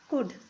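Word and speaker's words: could: ओ यू एल डी कुड देखिए इसमें एल है फिर भी एल एल को हम साइलेंट करके पढ़ेंगे इसको सी ओ यू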